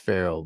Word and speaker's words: Pharrell: I know it's pronounced Farrell, but Pharrell. Is Pharrell tonight?